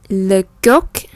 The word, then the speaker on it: coq: Fais attention, on ne dit pas le coq, không phải là cốc đầu, không phải là cốc, mà le coq. Chúng ta dùng cái hàm dưới mình hơi đẩy dành nó xuống một cái thành âm k. Le coq. Và cái hai cái má mình thường nó sẽ hơi hóp một chút.